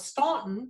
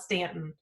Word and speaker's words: Staunton: it actually because I thought it was Staunton because there's a you in there but they call it Stanton so I had to